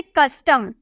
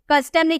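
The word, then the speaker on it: custom: जैसे कस्टम ठीक है कस्टम खिए यहां पे आपको सी के बाद यू नजर आ रहा है ना सी के बाद अगर आपका यू नजर आए तो आपको उसका क में प्रोनंसिएशन करना है हम बोलेंगे कस्टम ठीक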